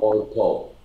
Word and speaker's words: Pol Pot: Pol Pot? Pol Pot.